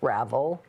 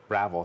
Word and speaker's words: Ravel: people you pronounce it my name by even way is pronounced Ravel Ravel did I say it correctly yeah you did a lot of people think that it's fancier that's it that's